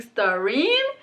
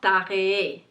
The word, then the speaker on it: Staré: So online I see a lot of people saying starine. I'm like, maybe because the H is printed low, but it's pronounced Staré. Okay, it's Staré.